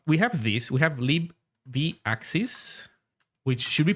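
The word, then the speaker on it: libvaxis: Uh we have this we have lib vaxis which should be pronounced lib vaxis.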